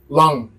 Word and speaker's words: l'un: So because the difference is for one masculine, you pronounce it long. You aspirate the N, long. With the feminine, you don't. You pronounce it like a regular N in English.